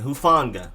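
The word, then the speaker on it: Hufanga: fonda tylenoa who fonda emphasis on the no and the fawn telenoa and hufonga then you have edge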